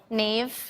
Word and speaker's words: Naoise: Naoise. What? Naoise.